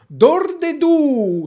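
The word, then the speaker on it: Dordeduh: is really special because it's a band called dor de du spirit d-o-r-d-e-d-u-h and why this name because it's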